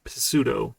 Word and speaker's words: pseudo: definitely a ps and there's pseudo pseudo the silent p because english is english excuse me all right